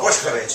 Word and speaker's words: Boskovic: Boskovik. What is that? It's Serbian, actually. Serbian. So. Boskovic, if you want to pronounce it the Serbian way.